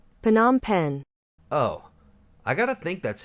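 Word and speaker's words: Phnom Penh: Cambodia I knew that now how the hell do I pronounce it PanAm pen oh I gotta think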